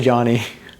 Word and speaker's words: Jony: cool it's very unique whenever people ask me um like how like you know how I pronounce my name cuz I always put j n y um I always like I always give the disclaimer I'm like uh I say Johnny but like I say